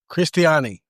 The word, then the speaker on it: Cristiani: Cristiani.